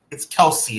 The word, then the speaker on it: Kelce: No, it's Kelce. It's not Kels. It's Kelce. Yeah, at least that's what he said. I mean, his brother pronounces it Kelce.